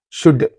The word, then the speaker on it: should: You are not pronouncing this O. You are not pronouncing this L.